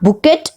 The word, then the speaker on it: bouquet: It is not bouquet, it is bouquet.